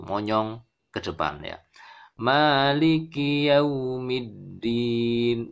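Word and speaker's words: يَوْمِ الدِّينِ: Maliki yaumiddin. Middin dal tasydid middin. Hati-hati dal tertukar dengan ta atau po ya. Misalnya begini. Maliki yaumiddin. Middin ini diucapkan dengan ta ya, maka tidak tepat ya.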